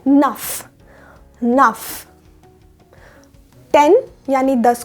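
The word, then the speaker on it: neuf: 9 यानी 9 को हम बोलते हैं नफ।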